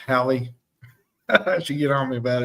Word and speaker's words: Hallie: Let me pronounce that right, Hallie.